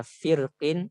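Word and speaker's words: فرق: Adapun di sini dibacanya bisa firqin ataupun fir. Seperti itu. Kenapa dibaca dua cara baca? Karena huruf isti'alanya berharokat kasrah. Adapun ketika waqaf maka dia hanya dibaca tafkhim.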